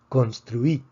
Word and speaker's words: construí: Vemos que la palabra termina en vocal, por lo tanto predecimos que la fuerza debería estar en la penúltima sílaba, sin embargo está en la última sílaba, entonces necesitamos escribir un acento de excepción.